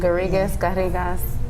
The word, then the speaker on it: Garrigas: Garrigas, both the English and Spanish way. Garrigas in Spanish.